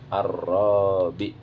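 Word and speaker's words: الرابع: Jadi kalau ada kalimat itu bacanya Ar-Rabi. Ar-Rabi. A, pasti dibaca A-nya itu A. Kenapa? Huruf keduanya lam sukun. Jadi kalau ada alif, huruf keduanya lam sukun, pasti alifnya dibaca A.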